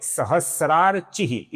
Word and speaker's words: सहस्रार्चिः: अब यहाँ पर ध्यान से देखिए, सर्वप्रथम नाम है सहस्रार्चिः। ये स्त्री वाला स्त्र नहीं है, ये स्र है, स और र। ये स्र है, सहस्रार्चिः।